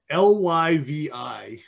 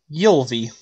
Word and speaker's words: Ylvi: I would have taken a swig at Ly, but it's Yulvi.